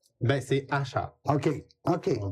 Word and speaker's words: Achard: Ben, c'est Achard. OK. OK. On prononce bien.